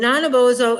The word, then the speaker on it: Nanabozho: and his name and I looked it up so I would say it right is not a bozo and nine of ozo is a bit of